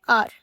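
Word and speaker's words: hour: अभी जैसे हम लिखें आर, अभी आर में ये जो एच है वो मेरा साइलेंट है, तो हम एन लिखते हैं ना, एन लिखते हैं। ऑनेस्ट, ऑनेस्ट में भी ये मेरा साइलेंट है तो एन आता है।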